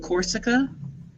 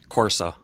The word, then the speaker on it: Corsa: And you pronounce it Vauxhall Corsica? Corsa. Corsa?